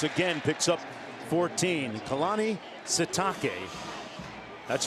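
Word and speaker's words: Sitake: Keani Satake. That's right. It is Satake. That is the proper pronunciation.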